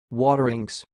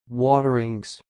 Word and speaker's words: Wateringse: the word you see it sounds like water inks waterings I will repeat it more slower watering waterings that's all thanks for